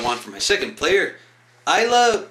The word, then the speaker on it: Ayla: Isla, or Ayla, however the fuck you actually do pronounce her name. I pronounce it Isla.